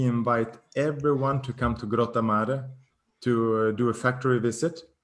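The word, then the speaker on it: Grottammare: supposed to pronounce this gratimar where is that hometown it says fly products home grottomar okay yes i was pronouncing it very english no so for everyone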